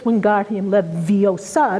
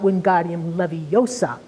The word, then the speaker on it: Wingardium Leviosa: pronunciation of the charm she tells her on its Wingardium Leviosa not Wingardium Leviosa and again we cite